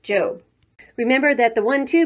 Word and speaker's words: Job: off to her job which in the bible is pronounced job remember that the one